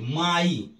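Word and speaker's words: my: का य हुआ लेकिन दूसरा यही पे आई भी होता है जैसे एम वाई माई अब ध्यान दीजिए म के बाद माई माई आई म में आई जोड़ गया माई तो यहां प आई हो रहा है ये जो है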